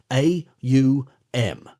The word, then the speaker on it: AUM: The right use in Hindustani is AUM. Therefore, we will consider it in this light. It is a guttural sound. As you pronounce it, you will note it starts in the throat. To pronounce U, the lips must be thrust forward. You will note, is formed by pressing the lips together, causing a resonant tone like the humming of a bee.